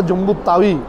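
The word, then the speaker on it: Jammu Tawi: গেছে তো যাই হোক আমরা উচ্চারণ করি জম্বু তাওয়াই কিন্তু ইংলিশে লেখা থাকে যখন মানেটা জম্বু তাওই যাই হোক ওটাই বোধহয় জম্বুর তাওই হবে তো যাই হোক একটা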